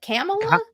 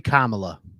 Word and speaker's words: Kamala: then what is it Camala it's supposed to be Kamala Kamala yeah yeah but